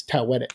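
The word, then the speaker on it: Taweret: So while they're making the show, they found out from a historian that it's Tawetet is how you pronounce it. So that's why I say it like that.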